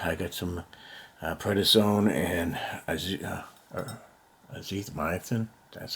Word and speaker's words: azithromycin: I got some prednisone and azithromycin.